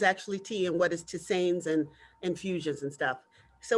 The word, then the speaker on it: tisane: Hey, Lady Dana, on page 51 of your book, you have a tea recipe for mint tisane. Is that how you pronounce it? Tisanes.